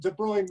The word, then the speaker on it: De Bruyne: League archive in which the commentator says de Bruyne because it turns out that de boigne was just some regional pronunciation and that the rest of Belgium was calling in zabrina and so neither was wrong 9 it was right